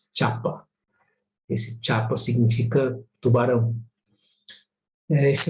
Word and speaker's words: Csapa: que eu pesquisei aqui em húngaro, na verdade, a pronúncia seria Robert Csapa.